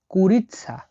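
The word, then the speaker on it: курица: মুরগি বলা হয় কুরিসা কুরিৎসা কুরিৎসা মানে হল মুরগি কুরিৎসা মানে মুরগি ভেঙ্গে দিচ্ছি কে ইউ আর আই এস টি এ কুরিৎসা এই অক্ষরটাকে বারবার বলছি এসটি উচ্চারণ হয়ে থাকে তাহলে কি হল কুরিৎসা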